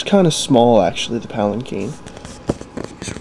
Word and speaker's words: palanquin: But I'm actually currently in the process of making the Palanquin. And for future reference, it's pronounced Palanquin, not Palanquin. A lot of people will mispronounce this, but it's actually Palanquin.